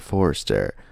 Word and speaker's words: Forster: Robert Forster. If that's how you pronounce his last name.